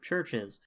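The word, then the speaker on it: Chvrches: Also, this has uh it doesn't say featuring, but it features vocals from Lauren Mayberry, who's the lead singer of Churches. Church is spelled with a V.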